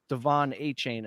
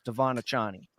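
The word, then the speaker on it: De'Von Achane: the sideline and then he doesn't want us to pronounce it Devon a chain anymore it's devonna Johnny and don't forget man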